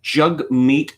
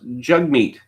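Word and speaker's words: Jagmeet: a politician in my country his name is jug meat sing it spelled jag beat but it is pronounced jug meat why it's not spelled jug mate I just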